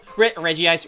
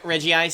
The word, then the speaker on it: Regice: That's Regi Ice. Regi Ice.